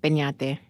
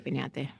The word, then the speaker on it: Peñate: and my last name is Peñate. In case you were wondering how to pronounce that. Yes, or I have this thing where I shouldn't do this, but I like whitewash it. I'm like, Penate's fine, but like it's actually Peñate.